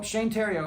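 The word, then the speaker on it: Shane Theriot: But anyway, so Shane Tero and it's spelled the riot. So, it's Shane um s h a ne and then t h e r o r i o t uh the riot Shane Tero is how you spell it. It's it's French Canadian.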